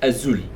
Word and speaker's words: Azul: But it's not really Azul, it's just Azul. You have to pronounce the vibrant of Z.